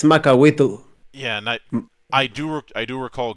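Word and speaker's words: macuahuitl: it in a very weird way, but it's Macahuitl. Yeah, and I do recall getting on him to put a pronunciation guide in the book, which there is,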